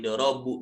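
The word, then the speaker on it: ضربوا: Jadi dorobu, jadi dhammah karena ketemu waw jamak.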